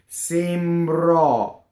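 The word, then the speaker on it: sembrò: We have an accented O, which tends to open. And the accent is on the last syllable of the word. The E is closed. How many people have you heard open this O, right? Sembrɔ. No. We'd actually do it the opposite in the United States, right? Sembrɔ, right? Closed E, open O.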